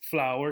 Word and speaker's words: flour: you working on pronunciation this flour sounds exactly the same as the beautiful flowers you might see in spring F low-40s on it is the same okay so this is